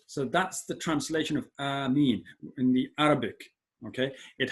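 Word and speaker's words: آمين: Okay, its pronunciation is with a long alif due to the mud, and I'll show you that.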